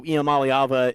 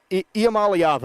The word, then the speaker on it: Iamaleava: Nico Iamaleava, I believe, is the correct pronunciation.